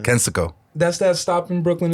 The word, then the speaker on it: Kensico: How do you say it? Kensico. Not Conseco? No, it's the Kensico Dam. Kensico.